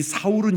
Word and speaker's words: 사울: 사울의 이름이 거기 나옵니다 이 사울은 히브리 식 발음이 고 바울은 헬라 씩 발음 이에요 그래서 유대교의 상태 있었을